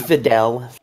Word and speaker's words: Videl: It is Videl. Yeah, it just his pronunciation is weird.